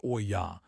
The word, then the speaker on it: olla: An olla, pronounced o-ya, is an unglazed terracotta vessel buried in the soil with just the opening above the surface.